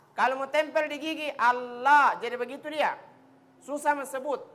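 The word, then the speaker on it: الله: warahmatullahikan Kenapa susah bilang Allah karena tidak tepat pengucapan huruf lamnya di mana itu lidah huruf lam di langit-langit depan dekat gigi tapi jangan sampai menyentuh gigi la makanya sebut Allah Allah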